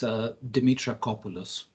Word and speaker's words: Dimitrakopoulos: It's Dimitrakopoulos. It's just as you read it. There's no twist to it. It's literally as it's spelled. It's a bit long, that's all.